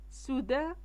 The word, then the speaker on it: soudain: soudain soudain A مع I مع N كتنطق d'un.